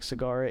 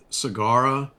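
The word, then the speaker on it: Sagara: just covered with the cigara that's not a c like cigar that that's actually s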